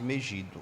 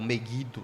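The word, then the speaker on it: Megido: Josias no Vale de meido ou meguido né como alguns preferem pronunciar e Daniel vivencia então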